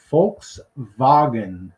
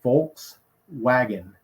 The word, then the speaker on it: Volkswagen: it the Germans also pronounce the V sort of as an F so it's folks wagon when you say Volkswagen in Germany when we say in the United States we say Volks wagon so the windicator that